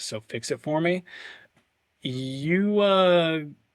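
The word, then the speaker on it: Uagadou: I'm definitely going to mispronounce this, so fix it for me. Uagadu. It's the one in Africa. Wagadoo. Wagadoo.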